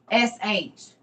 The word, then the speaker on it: Michmash: They posted their stuff at the city of Michmash, but it's spelled Mishmash or C. Excuse me, Michmash.